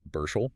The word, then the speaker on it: Burchell: And a quick note for everyone on pronunciation there, it's Bershel.